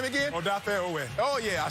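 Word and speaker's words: Odafe Oweh: Odafe Owe.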